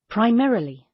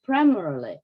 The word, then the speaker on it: primarily: Primarily. Wow, I always pronounce like primarily. Actually, it's primarily.